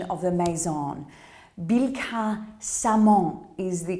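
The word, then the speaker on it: Billecart-Salmon: Bilka-Samon is the correct pronunciation, more often referred to as Billicart. It is Bilka-Samon.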